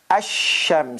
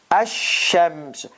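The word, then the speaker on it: الشمس: is pronounced al kamar in sun letters there is a shadda on on it and the article goes away it becomes asham so this is how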